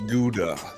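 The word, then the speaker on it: Gouda: whiskers sorry oh okay whatever it's pronounced guda thank you very much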